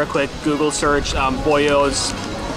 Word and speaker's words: Boyoz: quick google search um boyos boyos i think that's how it's pronounced is particularly famous in